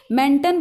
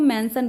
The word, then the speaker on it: mention: मेंटन बोलेंगे ना, मेंटन नहीं, हम उसको मेंशन बोलते हैं।